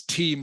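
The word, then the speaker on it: teem: correct okay this is team spelled t-e-e-m remember pronounced exactly the same as t-e-a-m but a completely different meaning just means crowded or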